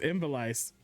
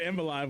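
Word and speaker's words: Ivalice: I did realize I said the I said the name wrong. It's Invisalice. Like my bad. I think I said Invalive on accident.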